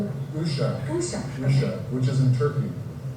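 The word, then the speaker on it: Uşak: tag and I don't even know how to pronounce is it ushach which is in Turkey.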